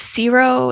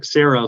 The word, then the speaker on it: Cerro: share a bit about is it zero is that how you say it yeah the zero cooperative and how you how Leaf is supporting them or has supported them of course so yeah Cerro Cooperative is um it's Sarah so Spanish for zero